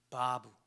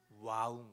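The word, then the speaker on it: ו: 이 W를 읽는 방식이 두 가지가 있는데 하나는 바브, 하나는 와우 이렇게 읽는 거예요. 근데 이 중에 고대 발음에 조금 더 가까운 것이 어떻게 읽는 거냐면 와우인 거예요.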